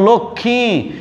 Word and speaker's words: লক্ষ্মী: এবার দেখো লক্ষ্মী, ল কয়ে শয়ে যুক্ত দুইটা ব্যঞ্জন, তার সাথে মফলা আছে, সেই মফলাটি উচ্চারিত হবে না।